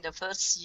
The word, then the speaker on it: fir: is fir cones again fur is another little homophone which sounds like fur so fur cones okay